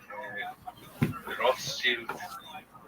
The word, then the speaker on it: Rothschild: Oh, Rothschild? oh. How to pronounce?